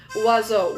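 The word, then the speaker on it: oiseau: Say I had to pronounce wazo which means bird right?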